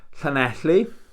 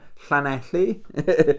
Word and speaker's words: Llanelli: Pronounce this one, Llanelli. I say it again, Llanelli.